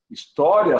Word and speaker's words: história: Elas também, pelo uso, pela pronúncia, principalmente no Nordeste do Brasil, eu falo história. Tá? Eu falo história. Né? Então, pelo uso, alguns gramáticos já aceitam história separando o I do A.